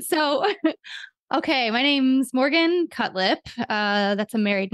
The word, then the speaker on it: Cutlip: okay my name's Morgan cutlip uh that's a married name and it's injury to the lip is how you pronounce it and so I am